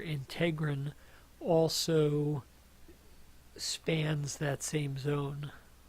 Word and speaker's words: integrin: alpha 6 beta 4 integrin also spans that same zone some people pronounce it integral I think you'll hear it both ways CD 151 antigen is